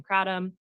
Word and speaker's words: kratom: I'm choosing to pronounce it kratom. Other people have used the pronunciation kratom.